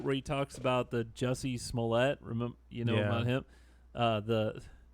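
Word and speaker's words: Jussie Smollett: he talks about the Jesse smollett remember you know him the but cuz the way it's spelled he calls this is this French guy juicy Smollet everyone has you can tell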